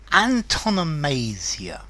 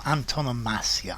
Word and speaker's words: Antonomasia: Antonomasia or Antonomasia, I've seen both pronunciations.